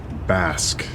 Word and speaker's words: Basque: it is closed and it's my understanding that you say this as bask not Basu Basque it's